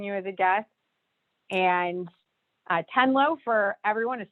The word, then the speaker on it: Tenlo: And Tenlo, for everyone, is spelled T-E-N-L-O.